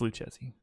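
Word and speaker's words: Lucchesi: do you pronounce it Lucchese it's Luke Jesse I'm not Italian Derek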